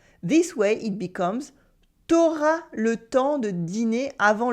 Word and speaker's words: t'auras: Many people would go one step further though and cut the U in tu when it comes before the vowel A. This way it becomes t'auras le temps de dîner avant le spectacle? T'auras le temps de dîner avant le spectacle?